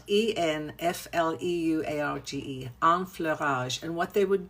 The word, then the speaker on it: enfleurage: technique called enfleurage, which is called e which is spelled e n f l e u r a g e, enfleurage.